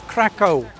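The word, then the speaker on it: Kraków: Come for a quick day trip from Krakow today, which is Krakow. Krakow. I've been saying it wrong, I say everything wrong.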